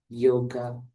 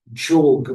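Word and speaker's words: योग: is known as Raja Yoga Meditation. Tehnica practicată aici se numește Raja Yoga, meditația Raja Yoga. Raja means master, king, sovereign. Raja înseamnă suveran, rege, prinț. And yoga, the real pronunciation is jog, means to join, to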